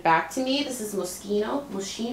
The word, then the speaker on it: Moschino: This is Moschino. I used to call this Moschino. I think it's Moschino. Oh, yeah, I butcher the names.